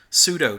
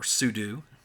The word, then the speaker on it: sudo: And so administrative users on those systems will use um pseudo to do that or sudo pronounced properly.